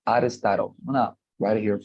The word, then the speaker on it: Aristotle: When you pronounce it in English, it's Aristotle. I'm gonna write it here for you, chat box. Aristotle, like this. Aristotle, okay?